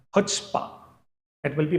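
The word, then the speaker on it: chutzpah: do you understand students C becomes silent it will be pronounced as HPA it will be pronounced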